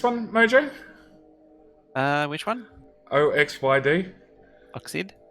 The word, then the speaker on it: Oxyd: And then, how do we pronounce this one, Mojo? Which one? OXYD. Oxid? Oxid?